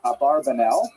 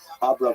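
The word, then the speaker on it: Abravanel: I should mention by the way many people pronounce the same H abarbanel and that's because of the uh it's much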